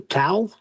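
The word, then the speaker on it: tau: T au towel particle.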